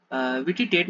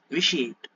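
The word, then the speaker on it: vitiate: விட்டிடேட் நம்ம சொல்லுவோம், பட் அது தப்பு. எப்படி பண்ணா? விஷியேட். விஷியேட் நம்ம சொல்லுவோம்.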